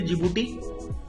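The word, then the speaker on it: Djibouti: of Eritrea फिर देखिए छोटा सा कंट्री जिबूटी उसका डी साइलेंट है ठीक है तो जिबूटी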